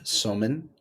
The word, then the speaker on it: Somin: Oh man, well, Professor Somin, I hope I pronounced that right.